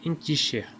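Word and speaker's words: handkerchief: Qui croirait par exemple que ce mot anglais en kirchef se prononçait inkicher ?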